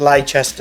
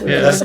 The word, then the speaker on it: Leicester: You'll be one of the few Americans that will go back and pronounce it properly. Not Leicester, as most Americans would say. Leicester.